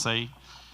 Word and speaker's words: TSAE: This is TSAE, T-S-A-E, pronounced SAE, stands for Talk Show About Everything, which means we're going to talk a little bit about everything.